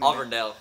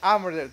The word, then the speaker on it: Auburndale: Auburndale. Auburndale, like that.